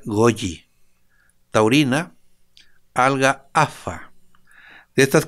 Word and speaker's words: goji: con vitamina b6 goji se escribe goji se pronuncia goyi taurina alga afa de